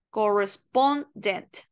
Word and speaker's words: correspondent: a esas pequeñas sílas correspondent entonces quiere decir que mi acento oral está acá corresponde o si no